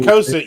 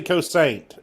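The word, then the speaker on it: Kosaint: You got to say Cosent. You can't say Cosaint because Springfield doesn't like Cosaint.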